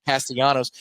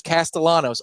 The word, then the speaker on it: Castellanos: question in the chat is that how you you pronounce it Castellanos it's not like Nick Castellanos I swear every play-by-play guy in the country says castalanos I Spanish I got